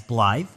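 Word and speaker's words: Blaidd: the half wol uh in this game you're actually going to hear the NPCs pronounce him as blly so I'll do my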